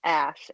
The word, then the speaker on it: Ash: was funny especially with how many people mishear it and misspell it I'm like no it's Ash a-s-h publishing I love it well